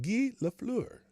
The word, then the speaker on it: Guy Lafleur: to the floor family that is how it's pronounced gi la fleur rest in peace gila skelefloor um let's see